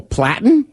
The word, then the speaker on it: Platten: this girl's name is rachel platten uh she's uh that's how she actually pronounces it well it's my name is rachel platt well she looks like patton but there's an l in there okay so she's a